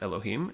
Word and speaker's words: Elohim: you say that word so the word is pronounced Elohim and the word actually means a plurality of